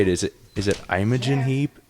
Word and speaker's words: Imogen Heap: Is it Imogen Heap? Imogen Heap.